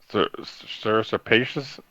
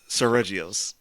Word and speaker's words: Seregios: Sir Serpacious? Did I pronounce the name? Seregios.